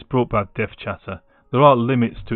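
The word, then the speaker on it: DevChatter: see it's brought back dev chatter. There are limits to its abilities. So one of the jokes about dev chatter is that people mispronounce his stream to be death cheddar.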